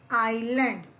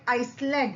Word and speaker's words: island: Now ISLAND, इसे हम students we कैन not read this like आइसलैंड. हम इसे आइसलैंड नहीं पढ़ सकते. यहां पर हम IS को साइलेंट पढ़ेंगे एंड हाउ we will read it? Island.